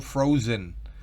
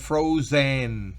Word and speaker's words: frozen: No es frozen, no, frozen. Casi no se percibe la E, como pueden verlo, está allí también medio escondida en la pronunciación, queriendo decir eso, que no es una vocal plena, sino que se medio escucha.